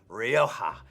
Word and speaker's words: Rioja: fal steno 5 reserva Rioja I love how the J in Spanish becomes an H when you pronounce it in English the foul steno 5